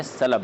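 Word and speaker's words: سَلَب: کا دوسرا باب ہے۔ اصل اس کا جو تلفظ ہے سلب ہے، لام کے فتح کے ساتھ۔ باب فی الامام یمنع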